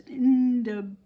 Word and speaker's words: Ndebele: It is, they say it Ndebele, something like that. It's spelled N-D-E, and that N kind of is pronounced, so it's Ndebele.